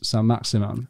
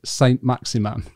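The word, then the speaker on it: Saint-Maximin: The other thing about Keown is he seems to refuse to say San Maximan the way that you should pronounce San Maximan. And he said Saint Maximan because he pronounces it like he means it.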